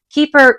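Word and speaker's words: Keyper: fossil keeper spelled weird I think it's supposed to be like keeper but it's spelled ke y p r because there's a key on it usually anyway keeper crossbody bag bird print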